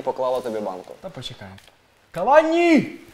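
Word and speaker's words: Cavani: До речі, французькі коментатори чомусь називають його на французький манер Кавані. Кавані. Кавані. Ну, в принципі, це біда у всіх французьких коментаторах. Коли ти хочеш послухати, ну, в принципі, як правильно вимовляти прізвище, це взагалі нереально. Тому що у них все на їхній манер, на останній склад.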